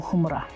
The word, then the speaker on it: Khurma: there's something we call humra. Humra. Humra. Yeah. It's KHURMA. Humra. KHU? Yeah, KHU. Humra. I would have thought it started with like an H. No, K. So but the K is silent.